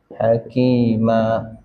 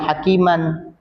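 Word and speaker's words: حكيما: Hakima ya. Ini bacanya hakima bu ya. Aliman. Hakima waqaf ini waqaf. Jadi tandanya kalau ini apa? Kalau mad ewat fatah tain. Jadi fatah tainnya tidak dibaca aliman hakiman, tidak dibaca aliman hakima, tapi dibaca aliman hakima.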